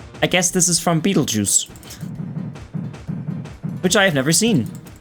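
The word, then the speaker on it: Betelgeuse: time to realize that Beetlejuice is spelled weird and refers to the star cluster or the the the space thing. Beetlejuice, you know, like the B E T E L G E U S E.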